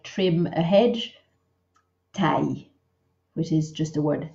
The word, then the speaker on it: taille: taille than just say taille. It's just one syllable. There's a big tendency to say taille with an extra E. We only say it in one short syllable, taille.